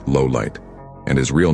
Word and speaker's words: Lawliet: L's surname, Lawliet, is pronounced Lowlight.